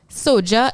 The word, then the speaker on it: SOJA: what soldier stands for soja is spelled s-o-j-a like soka but with a j instead of the c and it stands for